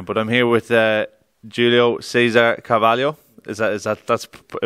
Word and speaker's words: Julio Cesar Carvalho: i've been here but i'm here with uh julio cesar cavallo is that is that that's the perfect pronunciation for it but julio last time i